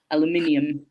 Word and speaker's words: aluminium: But, for instance, even elements like aluminum and aluminium are different.